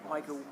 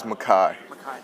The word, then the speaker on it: Micah: of guy he is Michael what did you learn it's Makai yeah okay it's spelled Michael yeah I covered Carson